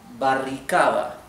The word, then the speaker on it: barricada: Our third word, barricada, barricada. And I'll tell you where I think the challenge is here? Of course, well, this is the accent, right? Barricada in the third syllable.